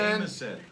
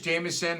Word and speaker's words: Jameson: Jamison. His name is Jameson, but somebody mispronounced his name as Jamison.